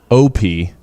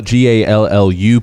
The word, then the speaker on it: Gallup: Not Gallop, but right. Not or Gallip. No. Or Gallap. Nope. Or Gallouap. No, I wouldn't have thought to spell it like that. But you spell it Gallup.